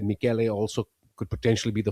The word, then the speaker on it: Michele: think it's the musical sound, Michele.